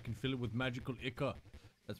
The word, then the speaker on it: ichor: I can fill it with magical ichor. That's pronounced ichor.